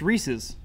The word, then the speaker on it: Reese's: Is it Reese's or Reese's? Have I been saying it wrong? I've been saying Reese's. That's how I've always said Reese's. Mm-hmm. But I know some people say Reese's. Reese's? Reese's Pieces. Reese's Pieces. All right, well. Because it rhymes, Reese's Pieces.